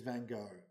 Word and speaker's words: Van Gogh: So I asked Johannes Kunan, a Dutch man in our morning service. He assures me it is Van Gogh.